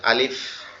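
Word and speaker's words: ألف: এটার উচ্চারণ স্থান হচ্ছে আপনার উপরের দুইটা দাঁত। আমাদের যে দাঁত আছে দাঁতের দুইটা অংশ। একটা হচ্ছে উপরের অংশ একটা হচ্ছে নিচের অংশ। এই হরফটা মূলত উপরে যে দুইটা দাঁতের অংশ আছে এইটা নিচের ঠোঁটের পেটের সঙ্গে লাগবে। নিচের ঠোঁটের পেটের সঙ্গে লাগবে। লেগে একটু হালকা বাতাস মত বের হবে। হালকা আওয়াজে আলিফ। আলিফ এরকম ভাবে এই হরফটা একবারে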